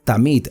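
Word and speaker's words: תמיד: La palabra continuo en hebreo se pronuncia tamid, algo que se hace consecuentemente o continuamente.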